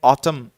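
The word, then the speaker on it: autumn: इसके अलावा जो एक वर्ड है ऑटम, इसमें जो लास्ट एन है स्टूडेंट्स ये भूल जाते हैं लिखना, क्योंकि जनरली जब हम ऑटम बोलते हैं तो जो लास्ट का जो एन है वो साइलेंट होता है, वो नहीं सुन पाते।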